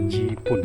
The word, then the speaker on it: Jipun: Orang Sabah kalau dia pronounce Jipun tuh, dia tidak akan jawab Jepun ke Japan ke, dia akan cakap Jipun.